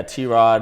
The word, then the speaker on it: TROD: people first see it a lot of people think it's pronounced trod and I'm like no it's it's it's T rod that's actually a really